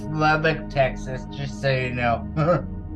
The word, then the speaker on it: Lubbock: important but I just wanted to say it's Lubbock Texas just so you know it's what sorry pronounce Lubbock oh thanks awesome thank you Sammy